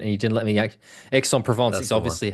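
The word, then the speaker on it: Aix-en-Provence: you were impatient and you didn't let me Exon Provence is obviously how you say it, mate.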